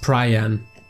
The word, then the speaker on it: Pryan: and realm of heaven it's actually pronounced prayin you know ariannus was